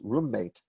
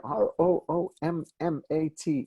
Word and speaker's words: roommate: always think of as roommate what this word ro om ma te we write it with two M's and we even hear a difference it's not roommate it's roommate you hear the mm and if you have